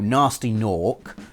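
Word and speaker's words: Gnasty Gnorc: Dragon for those of you who don't know nasty NORC ganar sneakin orc silent G and he comes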